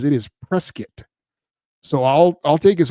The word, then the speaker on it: Prescott: Now, I always thought it was Prescott, but he fel spelled it out phonetically. He says it is Prescuit.